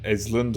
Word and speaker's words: island: What I hate is that you don't pronounce the S in Ireland or in Island and Islet and Isla.